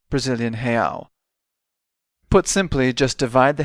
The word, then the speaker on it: real: In Brazil, the currency is the real, or reais when plural. Let's practice that pronunciation. Real, real, real, and reais, reais, reais.